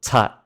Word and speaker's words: tat: So for example, I have the word here, tat. The first T is aspirated t, but the last T is not, so tat.